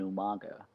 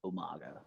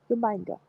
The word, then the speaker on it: Umaga: And then Cena versus Umaga, like Umanga. Umanga. I even put down Cena versus Umanga. That's So literally how I pronounce it now.